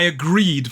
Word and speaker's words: agreed: Because the base word on the second syllable ends with that vowel sound, that E. So it becomes agree, becomes agreed. Agreed. It's a d.